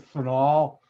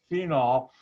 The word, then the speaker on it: phenol: I pronounce it phenol. People mispronounce it phenol. And at one company, Borden Chemical, I had a running argument with other PhD chemists, and they'd say it's phenol. I said, no, it's phenol.